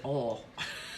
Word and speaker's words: oil: yes I pronounce it oil but some of my sisters in the South that are watching pronounce it all so depends like um if you're southern it's one syllable if you're northern it's